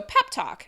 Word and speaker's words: pep talk: And this one is a secondary stress, which we're not going to talk about, but it's stressed on this first syllable is what I want you to pay attention to.